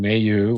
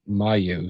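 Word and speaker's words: Mailloux: Same guy that comes up with Kapan and calls Logan Mayu, which is how you say it, Mayu.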